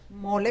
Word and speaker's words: mole: I also brought mole poblano, which is the sauce that is very What's it called? Mole. Mole. Yes, That made with chocolate? It's spelled like mole. Yeah, mole. M-O-L-E. Mole, like a mole.